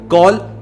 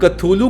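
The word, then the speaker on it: Cthulhu: अब कथूलू को बहुत सारे तरीकों से प्रोनाउंस किया जाता है। जैसे कलू, कलौलू एंड जो सबसे ज्यादा फेमस है वह है कथुलू।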